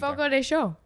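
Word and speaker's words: Fogo de Chão: they got the Texas de Brazil one here foro de Chow right we're going not deow we say it wrong perfect I I figured by you guys telling me the pronunciation F show and then he said you have to be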